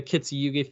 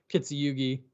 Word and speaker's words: Kintsugi: I actually thought about like not fixing the checkerboard and doing the Kintsugi thing with all the cracks and stuff like that.